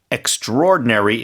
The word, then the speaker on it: extraordinary: And extraordinary is how we pronounce it.